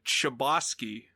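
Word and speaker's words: Chbosky: a guy named stephen chabotsky i'm going to assume that that's how you say it like proboscis uh but it's c-h-b-o-s-k-y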